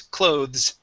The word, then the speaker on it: clothes: Instead of clothes, this word is clothes. Clothes. Okay, give me a Z sound at the end.